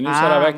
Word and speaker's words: Nilce Aravecchia: Essa Professora, é a pronúncia? é isso mesmo, Nilce Aravecchia, muito bom.